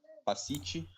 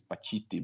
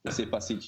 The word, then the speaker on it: Pacici: is Pacici. The correct pronounce in Italian, I think, is Paciti, but Yeah. I'm not Italian, so Pacici we say Pacici here in Brazil.